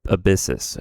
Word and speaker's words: Abyssus: Oh, ab abyssis. Okay. I I wasn't too far off when I was trying to pronounce it the other day.